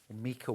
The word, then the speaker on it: Mika: Mika wallet.